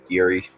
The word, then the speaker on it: Eyrie: Is that how it's said? Yep, Eerie, Eyrie. Irie, whichever.